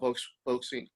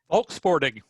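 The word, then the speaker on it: Volkssporting: And just because of visibility, maybe people have not seen or know very much about Volksing. I'm saying it wrong. How do you say it again, Dave? Volksporting. Volksporting, yes. I mean, I had to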